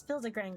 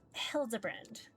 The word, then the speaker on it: Hildibrand: Since finding ways, I've searched every alley and dive bar and ever keep for signs of this Hildigrand character. It's pronounced Hildebrand.